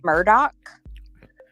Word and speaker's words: Murdaugh: It is at least locally Murdoch, with this like CK at the end.